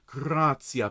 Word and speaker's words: gratia: Gratia plena. If you can, roll your R's, please, on gratia.